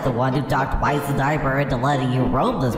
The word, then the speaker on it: Wizenheimer: How did someone like you become associated with a character like Wizenheimer? Oh, it's pronounced Wizenheimer.